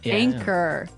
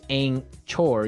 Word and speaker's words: anchor: another boat word here anchor anchor anchor now it's spelled a n c h o r right but you don't pronounce the CH as you normally would right another one of